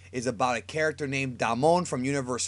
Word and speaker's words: Damon: I believe it's pronounced Damon because Japanese don't really have long A's.